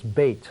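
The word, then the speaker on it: בית: That's where temples are called Beit or Beth something. That Beth is another pronunciation of Beit.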